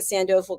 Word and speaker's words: Sandoval: I hope I'm saying her name right Jessica Sandoval we'll find out she's the founder of Jessica Sandoval coaching let's welcome Jessica to the program hello